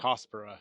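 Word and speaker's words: Cercospora: I I call I pronounce circuspora, but he's he said something else. Sarcaspera. Sarcaspera. That's how he said it.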